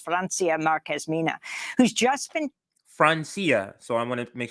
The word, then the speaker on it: Francia: afro-colombian environmental activist francia marquezmina who's just been francia so i want to make sure i say